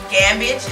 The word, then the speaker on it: Gammage: our guests gospel artist rapper Travis T Dog gambage in my pronouncing your name correctly it's excellent awesome awesome